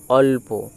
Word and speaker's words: অল্প: অল আর প অল্প। সেটাই লেখা আছে অ লয় প অল্প। অর্থাৎ যুক্তবর্ণ উচ্চারণে আমার নিয়মটাই হলো যে আমি যে যুক্তবর্ণ